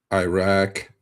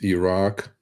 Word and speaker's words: Iraq: not Iran it is Iran it is not Iraq it's Iraq at least at least at least pronounce it correctly um a lot of our